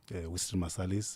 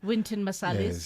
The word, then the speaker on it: Wynton Marsalis: I grew up looking at guys like your Winston Marsalis was part of it. Wynton Marsalis, yes.